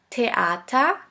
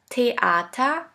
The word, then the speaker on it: Theater: Now the last letter combination which is simply pronounced like a t. Here we have the example of the word teata tata which means theater.